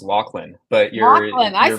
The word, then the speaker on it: Laughlin: So it looks like it should be pronounced Laughlin, but for reasons unknown and lost to history, it's pronounced Laughlin.